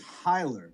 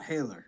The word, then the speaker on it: Hailer: it's clear to everybody my last name is Hyler not Haylor Hyler and that's the way